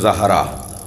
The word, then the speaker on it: زہرا: کر رہا ہوں کہ ہمارے ہاں اجلت میں جلدی میں زہرا کہہ دیتے ہیں، صحیح تلفظ زہرا، زال پر زبر۔ کہتے ہیں یا رسول